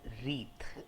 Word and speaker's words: wreath: So guys, जो पहला word है वो है रीथ, WREATH, it's pronounced as रीथ, right.